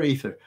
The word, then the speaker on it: aether: Is it, you pronounce it as a long I, long A, athier, is like that. But it's Greek, isn't it? So you got to pronounce every letter, ether. Aether. Aether. Oh, we go with the E, ether.